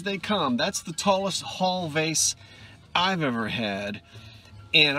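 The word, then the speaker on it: Hull: that pottery has taken i still love hall which is spelled h-u-l-l not to be confused with h-a-l-l this is hall art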